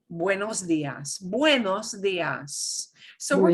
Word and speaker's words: buenos: until noon, we say buenos dias, buenos dias. So we're going to Buenos. pronounce this. Every letter gets pronounced. Bueno, so it's going to sound like U-E, U-E, buenos, Buenos.